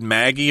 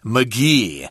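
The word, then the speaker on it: Magie: I would have said Maggie or something or Magi or something but actually we heard a documentary about her and her name is pronounced Elizabeth McGee and she actually invented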